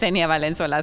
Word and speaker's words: Valencola: I mean, there's no other way of of pronouncing my name in English. It's Valencola.